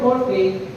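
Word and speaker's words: μορφή: i Been telling you the word morfi is the Greek transliteration this is how you pronounce the Greek word tulad ng elohim transliteration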